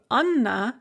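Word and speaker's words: Анна: them so for example the name anna has a hard n because it has an ah written after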